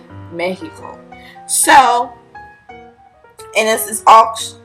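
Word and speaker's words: México: was Nina Mexico or rather the correct pronunciation pronunciation mehico so and this is all actually manufactured by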